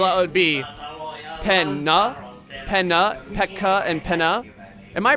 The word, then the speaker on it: Pekka: And it was saying that the consonants, like when you have a double consonant, it is pronounced individually. So like if it's P-E-K-K-A, it's Pek, and then